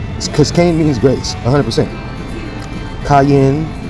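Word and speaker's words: Qayin: Kan means Grace 100% cayen q a y i n is how you say C the one from the beginning that killed Abel that's how you spell his name with a q q a y i n cayen okay instead of just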